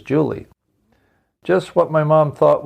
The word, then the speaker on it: July: It's late in the year for Julie, but it's really spelled July, J-U-L-Y. I asked Julie why she spelled her name like that, yet pronounced it as Julie.